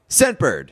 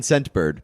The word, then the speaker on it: Scentbird: Scentbird. What's it called? Scentbird. Scentbird? Scentbird. It actually says in the read here, emphasize the T in Scentbird because I was gonna say, name is difficult to hear.